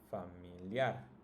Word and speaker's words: familiar: Now if you notice, it's also the last, right? The last syllable that's pronounced the strongest. Celular, familiar, particular, peculiar, and popular.